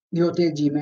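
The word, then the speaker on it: ryōte jime: Mancano gli allungamenti, per cui, ad esempio, io leggo qua. Ryote jime, vedete?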